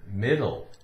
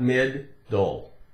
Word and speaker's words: middle: how about the word middle middle middle middle middle men though one day not mid dull not mid dull it's